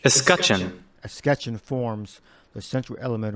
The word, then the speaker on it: escutcheon: Coat of arms, the heraldic visual design of Eshketon, shield, surcoats, and tabard. All right, the coat of arms on, let me get that pronunciation. Escutcheon.